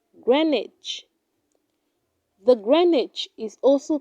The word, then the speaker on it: Greenwich: do not say valet it is pronounced valet valet she is a valet at the hotel eight do not say green witch it is pronounced greenwich greenwich the greenwich is also